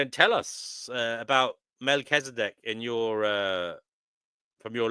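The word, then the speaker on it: Melchizedek: So, it's Melzdc. Okay. Oh, right. So, um, D Prophet says, "I agree, Divine." That's how we pronounced it in church.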